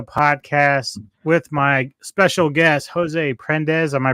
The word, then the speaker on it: Jose Prendes: here on the Middletown Radio podcast with my special guest, Jose Prendes. Am I pronouncing that correctly?